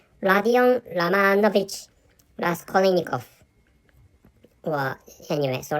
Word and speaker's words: Rodion Romanovich Raskolnikov: is wrong, but actually, so the correct pronunciation of the main character or the main protagonist of Prestuplenije i Nakazanie or Crime and Punishment is Rodion Romanovich Raskolnikov. Or anyway, so Rodion Romanovich Raskolnikov is which I think